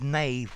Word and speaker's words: knave: a a playing card don't confuse the word Nave with a k for the word Nave same pronunciation without the K which talks about the